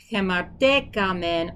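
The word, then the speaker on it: ἡμαρτήκαμεν: breathing mark there, but it's gonna have a h sound at the beginning of the next word, so it has to really separate it. Hemartekamen.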